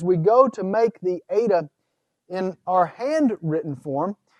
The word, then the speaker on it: eta: you write it ok the ADA in terms of pronunciation corresponds to the e sound but the long e sound in English as you have in the English word for obey so it's an a sound and it's considered a